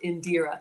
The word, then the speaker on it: Indira: She says it's pronounced Indira. Thank you.